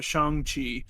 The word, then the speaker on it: Shang-Chi: I believe they're saying now it's pronounced Shang-Chi.